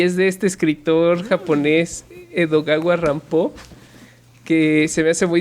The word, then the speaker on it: Edogawa Rampo: mirada perversa, y es de este escritor japonés Edogawa Rampo, que se me hace muy divertido, que ese es el seudónimo que se puso a sí mismo porque era fan de Edgar Allan Poe. Entonces es Edogawa Rampo, como Edgar Allan claro, Poe mal Edgar pronunciado.